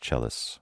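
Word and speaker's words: Celsus: It looks like it's C-E-L-S-U-S, but it's pronounced Chelos.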